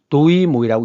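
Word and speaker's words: Đổi mới: 그럼 베트남 발음은 뭐냐? 모입니다. 그래서 이것을 읽을 때는 도이모이라고 있습니다. 그럼 뜻은 뭐냐? 바꾼다는 뜻입니다. 시는 시작이죠. 새롭게 바꾼다는 뜻이에요. 그래서 이 도이모이라고 하는 것은 베트남에서 사회주의 경제에서 자본주의 경제를 도입했던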